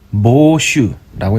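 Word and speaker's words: 芒種: 망종, 모슈라고 읽습니다.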